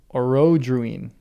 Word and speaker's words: Orodruin: I accent is on the second O. Orodruin. Thank you, Nemo. Also, what's up? Orodrun?